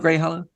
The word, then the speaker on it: Greyhallow: Did I pronounce that right? Greyhollow? Greyhollow.